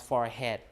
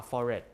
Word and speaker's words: forehead: But here people see the way that is written, so they pronounce forehead. But normally people would say uh forehead without the H or almond uh without the L.